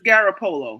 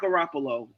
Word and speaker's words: Garoppolo: They've had a really the way you pronounce that name is Garoppolo, not Garoppolo. It's Garoppolo.